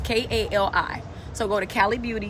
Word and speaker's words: Cali: And it's pronounced Cali, it's Kali.